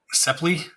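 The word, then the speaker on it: Sapele: Sepley.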